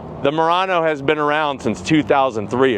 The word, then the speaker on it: Murano: If you ever wondered what the heck is moriranno, first of all, remember it's spelled with a u, mu. It's not morirano, like some or moronic thing. Morano is actually a v a type of Venetian glass.